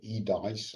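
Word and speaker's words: EDIHs: digital innovation hubs so the e dies as i as i learned to pronounce them um and actually we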